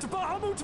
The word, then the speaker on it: Bahamut: Let sea and sky be awash in it, that Bahamut may come and drink his fill. That's how you pronounce Bahamut.